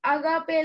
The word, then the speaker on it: agape: We say it right, agape love.